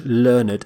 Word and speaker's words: learned: say learned learned we actually pronounce the e d d ending completely which is quite unusual in English learned a learned person is